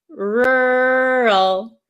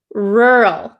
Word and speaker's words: rural: is really difficult because there are two RS and then an l and i know in some countries um the American R is very difficult to pronounce right so R rural please say it out